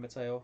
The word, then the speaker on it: Mateo: evening everyone good evening mateo hope you are well it's not matteo i keep saying it's mateo but it's spelt oe at the end not eo it's my toe my tongue good evening um